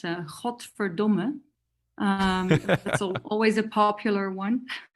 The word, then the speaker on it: godverdomme: Well, yeah, God damn it is a really good one, because that's godverdomme.